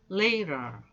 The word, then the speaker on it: later: 때 2t 바른 있죠 중간에 있는 t 발음이 양쪽에 모음과 모음 사이에 있기 때문에 미국 사람들 특히 et